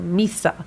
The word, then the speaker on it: Mhysa: Daenerys is accepted by the people, and this is why they call her Mhysa, which I was correct in pronouncing it.